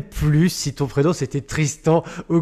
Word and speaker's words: Tristant: Est-ce que je prononce bien ton nom déjà? Ouais, très bien. Avec le prénom c'est et le nom c'est Tristan.